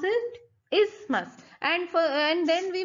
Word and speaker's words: isthmus: these are called ismas the th is silent so how will you pronounce pronounce it it will be like this is must and not is thermos no we are going